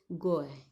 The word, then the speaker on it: GUI: Windows is a graphical user interface, short form में GUI, pronounce as GUI, between a computer and it's user.